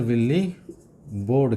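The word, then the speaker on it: Willebrord: इनका पूरा नाम है ना, प्रोफेसर, है ना, प्रोफेसर विल्ली बोर्ड कहते हैं दोस्तों इसको, BROARD, विल्ली बोर्ड, है ना, जिसमें एक आर जो होता है वो साइलेंट होता है, ठीक है ना।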